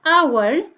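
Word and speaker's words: hour: And when we pronounce h-o-u-r, our, the first h is silent and becomes, here is a sign, awa.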